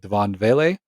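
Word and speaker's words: Devaughn Vele: and I'm gonna mispronounce this completely, but Devon Vele or Devon Vele.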